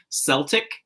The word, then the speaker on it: Celtic: It's the Celtic. It starts with the K sound. Celtic. I thought so. We say Celtic Bostons in the U.S., but it's Celtic for over there.